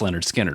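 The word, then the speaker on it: Lynyrd Skynyrd: was the Same album as this one called pronounced Leonard skinnard which is just obnoxious so I'm going to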